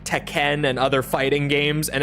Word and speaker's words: Tekken: other fighting games and everyone clowned on her for saying it like that and I mean that is the correct pronunciation like if you're actually speaking Japanese but no one speaking English ever pronounces it like that it caught